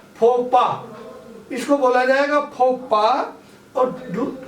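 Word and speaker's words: faux pas: अब जैसे पहला है फोपा। फोपा, इसमें देखो बोलने का उच्चारण ध्यान रखना है।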